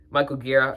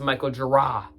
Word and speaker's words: Michael Gira: It's like after the meditative beginning, Michael Gear. It's actually pronounced Michael Gira.